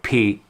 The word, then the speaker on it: Pi: other instances pi or p stands for the p greek letter and they decided to use that as a logo so a greek letter which is p is pronounced p uh i'll link some